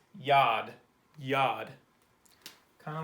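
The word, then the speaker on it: יד: of just floats up there but this is pronounced yad yad kind of like a why a denoise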